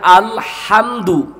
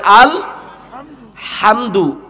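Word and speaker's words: الحمد: আলামিন এখানে আলহামদু আল বলেন বলেন আল হামদু হলকের মধ্যখান থেকে হা এর উচ্চারণ হবে আল হামদু এখানে আলহামদু যদি পড়েন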